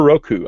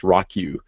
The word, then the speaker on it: Roku: it's I have a Roku I have a Roku which you know I which I used to think was called pronounced rocku uh but but I